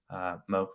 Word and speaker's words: Moock: Moock like Coke is the easiest way to pronounce that.